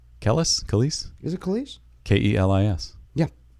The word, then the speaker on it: Kelis: Khalees. What? Khalees. Is that who did it? Khalees, yeah. Kellis? Khalees? Is it Khalees? Kelis.